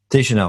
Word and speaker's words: Deschanel: really curious um so you've brought in zoe deschanel she has pronounced her last name right i could never i never remember if i pronounced her name right you should know de chanel thank you um she's coming in as a